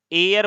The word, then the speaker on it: heir: अगर HEIR है तो इसे हम एयर बोलते हैं, एयर बोलते हैं, और इसका मतलब होता है उत्तराधिकारी।